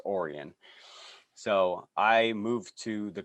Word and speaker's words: Orion: to the quad cities it's spelled like orion like the stars but it's uh pronounced orion so i moved to